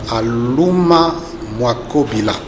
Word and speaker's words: Alouma Mwakobila: Je me nomme Alouma Mwakobila. Mwakobila, voyez-vous, je n'avais pas le bon accent.